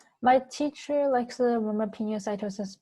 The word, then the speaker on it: pinocytosis: teacher likes the roma pinocytosis by the words pino colada which is a drink if you've ever had it i think it contains alcohol actually you might not have had it you probably haven't but pinocytosis is pina colada i think liquid sources